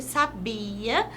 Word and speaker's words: sabia: certo nós sabemos que o verbo saber sabia tem mais tonicidade no bi mesmo não havendo acento e o Mário também